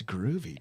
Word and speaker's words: Gruvi: that's groovy, dude. It is Groovy. And I spell it different. Oh, do you? I spell it Gruvi.